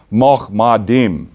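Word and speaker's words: מחמדים: The transliteration would read Mahmadim, pronounced Mahmadim.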